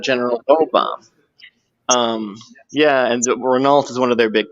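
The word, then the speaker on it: Renault: a manufacturers well and since it's French it's probably Rena you know what I mean r yes yeah and the American how you would say it right right American us people would say re Ral yeah and then but because it's French the British also oh yeah but they yeah they' like emphatically say it too but they'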